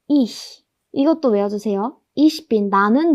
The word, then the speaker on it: ich: 세하가 이 뒤에 있으니까 약하게 소리를 내셔야 합니다. 바람 빠지는 소리만 내시면 됩니다. ich.